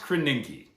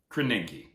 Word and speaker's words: Krasinski: It's pronounced Krasinski. Krasinski.